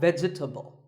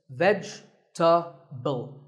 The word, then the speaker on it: vegetable: a lot is vegetable it's not vegetable if you say it correctly there are only three syllables vegetable vegetable let's talk about